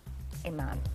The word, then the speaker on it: Amon: Local professional matchmaker Amon. Amon. Amen. Dang, I said it right this time. I always worry about your name. Amon is her name. She even said, like, amen.